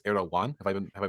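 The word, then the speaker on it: Erdoğan: so so to clarify it's not erog gun it's ero one have I been have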